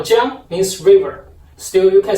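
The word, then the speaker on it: 江: And the last river is a word called jiang, means river.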